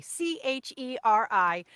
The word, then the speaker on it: Cheri: Again, that's Body by Cheri, Cheri. Oh, Cheri. And just think of Sherry, but it's spelled kind of like cherry. And then you just like get fun and do one R and one I.